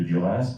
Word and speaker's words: Duras: Vous n'êtes pas sans ignorer que Duras dont il faut, contrairement à beaucoup de noms français, prononcer le S final de propre français et le